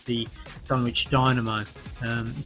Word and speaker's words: Dunwich: the uk called the dunwich dynamo um we now pronounce that done which if you american books done itch dynamo and it's a night